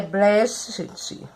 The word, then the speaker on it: Brecht: A pronúncia é quase assim, é Brecht.